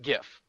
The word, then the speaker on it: GIF: i'm quoting it's pronounced jif not gif so jiff kind of liked the peanut butter jeff liked the peanut butter so according to him my entire world has just become shattered because i think calling it by the by peanut butter is dumb i i really it's you have a g in front of it it's a hard g it's gif let's move on but